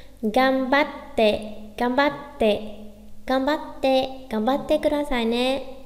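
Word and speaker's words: がんばって: Chữ ừn là chúng ta đứng trước chữ bờ nên sẽ đọc là gan à, hay là gam à, gam nhá. Gambatte, gambatte, gambatte, gambatte kudasai ne.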